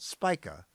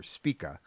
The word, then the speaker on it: Spica: The bright star you see is Spica (usually pronounced SPY-kuh, though I prefer SPEE-kuh).